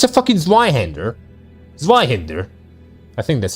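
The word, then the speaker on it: Zweihänder: Faust handles Zweihander one-handed, so Faust is strong, Kappa? To be fair, that's very dumb. Fuck you mean she's a Zweihander, fucking one-hander? It's a fucking Zweihander.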